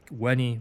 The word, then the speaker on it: veni: Weni, widi, not veni, vidi, vichi.